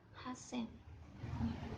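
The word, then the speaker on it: 八千: jadi niseng lalu ee ada angka khusus lagi nih seperti angka 3.000 dan angka 8.000 punya pengucapannya sendiri-sendiri 3.000 menjadi sang Zen dan angka 8.000 menjadi Hasen Nah itu perlu diingat-ingat karena pengucapannya beda dari yang lainnya nah kemudian ee kalau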